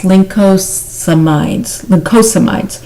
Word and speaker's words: lincosamides: Usually leave out a syllable on this one, but it's lincosamides, page 132 in your text.